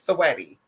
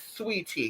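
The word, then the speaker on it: Saweetie: me you're not selling people don't even know how to say the name girl they think your name is sweaty girl didn't even know your name is sweetie because it's just how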